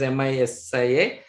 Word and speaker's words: Misia: Misia means spelled as M-I-S-I-A, Misia, like, but is already pronounced as Misia.